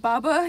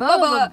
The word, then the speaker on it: boba: Is that Baba? Yeah. Yes, it's Boba. Boba. See? I didn't get mad at someone for pronouncing Boba.